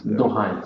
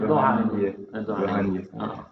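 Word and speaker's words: Dohány: And then I heard of the Johani synagogue, street synagogue, and Dohani synagogue. Yeah, I can't pronounce it. In España, Dohani. Dohani street synagogue. It's written not with an N like this, but NY. Dohani street synagogue, and that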